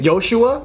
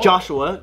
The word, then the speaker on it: Joshua: got the name yoshi my real name is joshua and people can say it properly yoshua yeah does your mom mess up it's just like joshua so it's exactly that's right in indonesia like we go by hebrew style it's not joshua joshua becomes yosua or